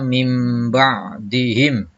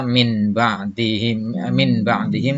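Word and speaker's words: مِنْ بَعْدِهِمْ: Contohnya, ini tulisannya min ba'dihim, dibacanya mim ba'dihim, ya. Tidak dibaca min ba'dihim tapi dibacanya mim ba'di.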